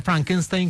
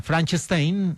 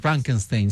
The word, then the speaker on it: Frankenstein: Y aquí la pronunciación errónea del nombre Frankenstein como Franchstein es una alusión a la película de la cual hablábamos en nuestro especial, el joven Frankenstein de 1974.